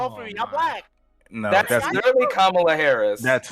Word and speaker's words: Kamala: No, that's literally Kamala Harris.